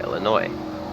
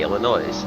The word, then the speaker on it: Illinois: My goodness, you do not pronounce the S sound at the end of Illinois. What I've noticed. Why did I say Illinois?